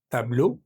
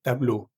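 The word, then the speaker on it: tableau: Tenemos la palabra a tablue, es decir, como una un una pintura, un cuadro. Para decir unos cuadros vamos a decir de tablue. De tablue. La palabra tablue en singular en plural no cambia la pronunciación.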